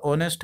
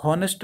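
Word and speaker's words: honest: अब उसके बाद यहाँ पे ये देख लीजिए जैसे आपका ऑनेस्ट है तो इसको हम लोग हॉनेस्ट नहीं, इसको ऑनेस्ट पढ़ा जाता है, इसमें अ की उच्चारण आपका आएगा शुरुआत में, तो इसीलिए यहाँ पे एन का यूज़ करेंगे।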